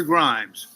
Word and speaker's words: Grimes: You know, Trevor Grimes, rhymes with crimes, right?